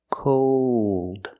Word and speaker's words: cold: at the North Pole with cold we hear the long o plus the dark L cold it's always cold